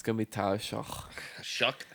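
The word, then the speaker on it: Shough: Shook. Tyler Shook. I hate that. Like the way they spell it.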